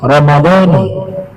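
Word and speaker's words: رمضانِ: paling paling ee baik cara yang paling sahih menurut para fuqaha adalah dibacanya dengan kasrah Ramadani hadanati ya Ramadani hadanati cara kedua kita mengikuti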